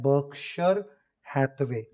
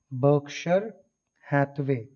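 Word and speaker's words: Berkshire Hathaway: इनकी कंपनी का नाम है बर्कशायर हैथवे, ठीक है, प्रोनाउंस किया जाता है बर्कशायर हैथवे, बर्कशायर हैथवे, ठीक है ना।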